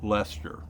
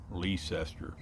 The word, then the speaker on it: Leicester: They're outside a little town called Lester or Leicester. Up there, it rhymes with Chester, as in, "Wait a minute, Chester.